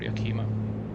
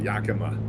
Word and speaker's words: Yakima: counterclockwise rotation, and will be continuing straight for Yakima. Mount Adams. Yakima. Was Yakima? Yeah, I'm local to this area. Yakima. Yakima, okay.